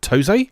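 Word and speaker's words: TOSE: So originally developed by Toze, I think is how you pronounce it, and released into arcades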